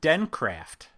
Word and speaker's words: Dencraft: that's right yes at dencraft yes i said it right i always want to add a t but there's no t it's den craft right yeah so tell